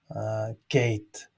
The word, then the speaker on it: gate: So it's now common, many use gate. It's the same pronunciation as in English.